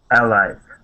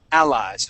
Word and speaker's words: allies: to be allies okay so you want to put the accent at the very beginning allies allies okay um the next